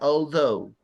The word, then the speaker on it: although: I bought it although Ya, ese se pronuncia although. La TH although suena como D.